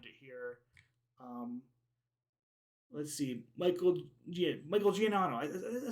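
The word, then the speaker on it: Giacchino: Let's see, Michael Giannotto.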